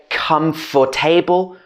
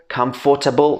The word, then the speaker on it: comfortable: so a lot of people would say come for table comfortable comfortable should be comfortable or comfortable so these